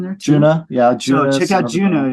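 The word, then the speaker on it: Djunah: Juno play in there Juno yeah check out Juno it's spelled d-g-u-n-a-h no seriously we're like really into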